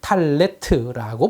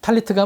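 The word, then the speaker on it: טלית: 탈무드 시대에 티베리아의 유대인들은 기도할 때 사용하는 망토를 탈레트라고 불렀습니다. 스파라딤은 계속해서 이 이름을 사용했는데 아슈케나짐과 이디시에서는 이것을 탈리스라고 불렀습니다. 하지만 현대 히브리어에서는 탈리트라고 합니다. 자음은 같은데 모음의 발음이 달라진 것이죠.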